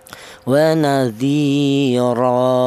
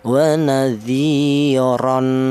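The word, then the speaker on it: وَنَذِيرًا: Maka kalau bacanya kalau kita berhenti di sini tanwin fathah ini cara bacanya itu ee diganti dengan fathah biasa ya. Waadiro seperti itu. Tidak boleh utuh, tidak boleh. Seperti contoh waziron tidak boleh ya.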